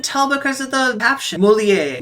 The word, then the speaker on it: Molière: Molière. Molière. Okay, I know how to pronounce things in French.